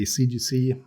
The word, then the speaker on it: ZGC: Well, so there's no preferred pronunciation. Both are fine. Personally, I usually say ZGC, but a lot of people say CGC, and I guess it depends on which side of the pond you're on.